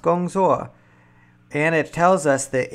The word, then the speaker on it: gongzuo: And what's even cooler, it shows us the pinyin, so we know it's pronounced gongzuo.